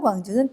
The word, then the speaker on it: 광주: 기차게 rc 아시잖아요 그런데 전라도 광주는 빛 광자 서 짧습니다 자 해 보실까 하자 전라가 황제는 과학 거 아이가 하음이 a 쌀 께 발음합니다 1명 자 접속사 다는 잠깐 쉬었다 가세요 자 반면 경기도 광주는 황주 가 아니라 광주 길게 발음 한다는 것 꼭 기억하세요 시작 아 아 o 아